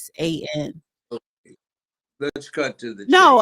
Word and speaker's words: Khoisan: Africa, and the first inhabitants of South Africa was the Coetians, if I'm pronouncing it right. No, It's they probably not are. pronouncing it right. It's Khoisan.